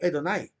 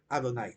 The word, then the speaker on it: Adonai: se puede leer como una a corta Adonai si se lee muy rápido puede incluso sonar como la letra e casi como edonai edonai o pero sería más bien Adonai la forma correcta de pronunciar verdad para los que